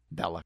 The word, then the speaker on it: Belloq: Uh Belloq? Belloq, yeah.